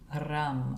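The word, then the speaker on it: रं: Now the seed syllable here is ram.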